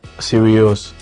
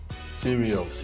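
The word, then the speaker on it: Sirius: dog star is called serious so that's why I so how did you spell that s i r i u serious yes s i I thought it was like serious okay like someone serious no no no no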